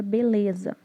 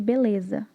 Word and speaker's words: beleza: Por exemplo, a palavra beleza. O B e o ZA têm intensidade alta. Então, a sílaba de menor intensidade é o LE de beleza.